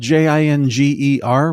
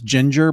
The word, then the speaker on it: Jinger: her name is spelled j-i-n-g-e-r which I would probably be tempted to pronounce Ginger but I think her name is Jinger forgive me if I'm